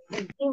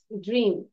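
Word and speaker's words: dream: at last কেম ট্রো ডিম না ইটস ড্রিম ডি আর ই এম ড্রিম ওকে আর এর উচ্চারণটা করতে হবে ড্রিম আচ্ছা এবার লাস্ট আরেকটা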